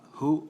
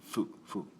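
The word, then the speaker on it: ふ: This particular character can be pronounced as hu or fu. Actually, mainly fu.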